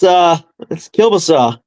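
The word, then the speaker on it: kielbasa: Is it Kabasa or Kubasa up there? It's Kilbasa. See, we Canadian.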